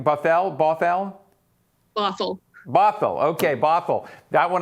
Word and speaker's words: Bothell: shore school district and i'm hopefully i'm not mispronouncing this buffal is that right buffalo bothell bothell okay bothell that one i didn't give